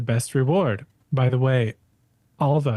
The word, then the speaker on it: Alva: reward by the way Alva is how you say my name a L VA a